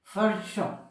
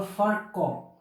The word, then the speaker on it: Virchow: of this scientist is Virchow or Virchow. This V, it is pronounced as F. So this is Virchow or Virchow.